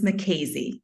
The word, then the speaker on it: Mackenzie: I believe we're not only joined by Mackenzie, but also Miss McKaysey is the pronunciation.